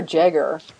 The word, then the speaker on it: Jaeger: own Jaeger that's far how do you say Jaeger or Jagger I think which of it is fine yeah movie for you